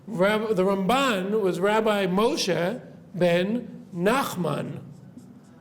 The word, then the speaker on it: Ramban: When we say Ramban, we always put the stress on the second syllable, right?